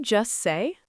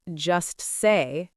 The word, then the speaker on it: just: When we say this phrase quickly in connected speech, we almost never pronounce the T at the end of just.